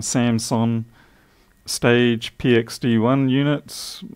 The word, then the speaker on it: Samson: Lewis's wireless, these Samson, there's no P in that, I keep saying it wrong, Samson Stage PXD1 units, it's not going to show up too well.